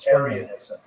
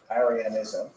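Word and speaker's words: Arianism: In particular, the gods adopted a form of Christianity called aranism which is spelled with an i. A r i ansm aranism.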